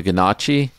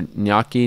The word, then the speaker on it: gnocchi: it's no nookie yeah I don't think the G is a part of it no I don't say